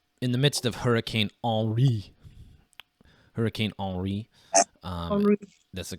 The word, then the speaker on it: Henri: In the midst of Hurricane Henri, that's the correct pronunciation.